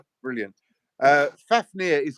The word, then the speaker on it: Fafnir: Jr that's your new name brilliant uh fafnir is correct correctly pronounced thank you libel I appreciate it I'm